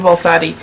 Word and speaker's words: Baldacci: David Baldacci.